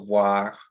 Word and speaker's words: voir: Excellent on pronunciation of those O-I. It's wa. So voir.